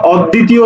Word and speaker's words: অদ্বিতীয়: তবে কি করে এটা শব্দের মাঝে বা শেষে থাকলে দৃত্ত করে আর শব্দের শুরুতে থাকলে কোন উচ্চারণ হয় না তাহলে অ তাহলে অদ্বিতীয় অ